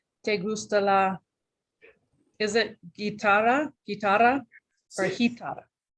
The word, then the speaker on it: guitarra: ¿Te gusta la, is it guitarra or Sí. guitarra? Guitarra with a hard G.